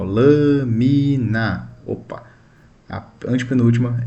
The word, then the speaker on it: lâmina: A sílaba tônica é a antepenúltima. Ó, lâmina.